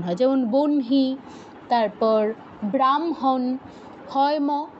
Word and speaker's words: ব্রাহ্মণ: পরে হ টা উচ্চারণ হয় যেমন বনহি তারপর ব্রাহ্মণ হয় ম আগে উচ্চারণ হচ্ছে ব্রাহ্মণ বনহি হয় ন ন আগে